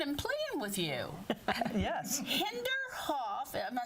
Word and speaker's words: Hinterhof: Hinterhof, am I saying it right? Hinterhof coffee.